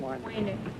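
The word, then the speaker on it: Wejnert: Waynert. Waynert? W-E... Was it W-E-J-N-E-R-T? You don't pronounce the J, is that it?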